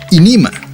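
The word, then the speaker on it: Ænima: Como otro ejemplo tomado del nombre de su segundo álbum, el magistral Aenima, significando alma o fuerza vital, algo de lo que Carl Jong habló mucho. O podrías también pronunciarlo como inima, significando una de esas cosas.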